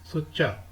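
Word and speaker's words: 숫자: वाला हफ्ता अगला हफ्ता सुचा नंबर को कहते हैं ये लफ्ज प्रोनाउंस होता है सुचा टेंसिल रूल के हिसाब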